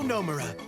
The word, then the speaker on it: Nomura: I'm Nomura. Accent on the no. It's very nice to meet you. Nomura.